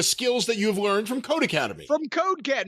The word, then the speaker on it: Codecademy: word for academy and it's pronounced code academy the same way it would be if it was two words and the e is